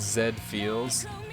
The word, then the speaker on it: Z Feel: It's pronounced Zed Feels. Like the anime robot, you know?